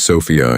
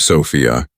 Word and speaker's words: Sofia: She says Sophia instead of Sophia.